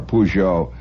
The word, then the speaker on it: Peugeot: Peugeot an excellent car I'm not going to try to pronounce it there's 18 different ways that Frenchmen pronounce it suffice it to say you'll get by if you just go in on holler pujo and if you're going